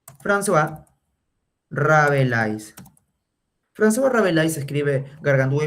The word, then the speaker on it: François: Se escribe así, mira. Francois. Se pronuncia François. François Rabelais.